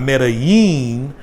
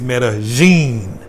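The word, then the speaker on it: Medellín: But here in Colombia, double L's are pronounced as J's, make a J sound like ja. So like it's not Medellin, it's Medellin.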